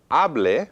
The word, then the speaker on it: hable: Ahora, hable versus hablé.